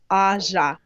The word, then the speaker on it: Aja: Wrestling Nerd in the chat said it's pronounced Aja. Aja. Thank you.